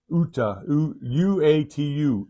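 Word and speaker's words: Uatu: In Marvel, how do you spell that? Uta, U-A-T-U, Uta, Uta.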